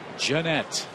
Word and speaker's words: Gennett: This is Scooter Gennett. I mispronounced his name earlier. My apologies, Scooter. It's Gennett.